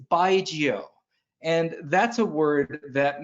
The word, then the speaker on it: baijiu: to say it um consider yourself saying goodbye to someone named giovanni but you're going to abbreviate and call them just geo so it's baigio and that's a word